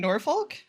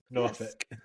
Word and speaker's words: Norfolk: It's in Norfolk. Norfolk. Norfolk. Hey, Hey, we pronounce our L's.